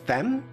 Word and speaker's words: femme: pronunciation but um it the first Femme is it just femme francs laughing at me now thanks Stuart's the one that told me it's femme okay I was actually expecting Frank to give it to me oh Uma corn says yep just Femme all right cool I'm